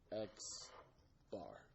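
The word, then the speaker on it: x̄: really explicit about it the way that you pronounced this symbol right here is X bar right it's like an X with a little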